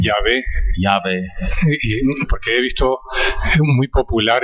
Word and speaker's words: Yahweh: del nombre divino, of the divine name, Yahvé, Yahweh. porque he visto muy popular el nombre Jehová Because I've seen the la mayor name parte-